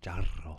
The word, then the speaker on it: charro: It's actually pronounced charro.